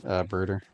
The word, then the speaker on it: Brudder: Alright, thanks, Brooder. Spelled brudder, like butter, but with an R, but it's pronounced brooder.